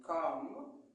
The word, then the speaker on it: calm: Mais le L ne se prononce pas. I could not calm. Aussi, on dit calm.